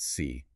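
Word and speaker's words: 死: In Mandarin Chinese, the word for four is pronounced si and the word for death is pronounced si.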